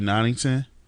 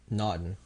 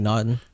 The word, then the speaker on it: Naughton: Naturi Nottington. Naughton. Yeah, Naturi Naughton.